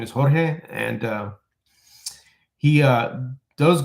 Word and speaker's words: Jorge: he has my name his name is Jorge that's how you say my name but I tell people